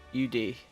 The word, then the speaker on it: UD: U and D U D U UD. So it's UD. Yeah. Okay. Damn. All right, Yudi. That kind of That's kind of fun. I dig that. Yudi Ude, is that your full is that like your